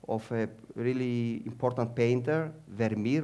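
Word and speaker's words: Vermeer: a really important painter verir or vermier it depends how you pronounce it and vermier was one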